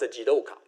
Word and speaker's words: jidoka: Joka is or in Japanese is pronounced jidoka.